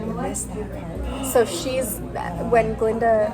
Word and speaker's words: Glinda: so when Glinda announces that the Ga is silent, and she's just Glinda instead of Galinda.